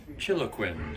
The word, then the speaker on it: Chiloquin: How do you pronounce this town? Chiloquin. Chiloquinn. I can't never say it. It's like how to chill a Quinn.